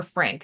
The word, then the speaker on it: Phranc: think of the singer Frank and it's spelled uh spelled p h r an c um who was once